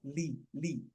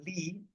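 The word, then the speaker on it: لِ: With a kasra, li. But interestingly, right, alhamdu lillahi, right, alhamdu lillahi, that li, that lam with a kasra, so it's pronounced li, but the letter is called a lam, right?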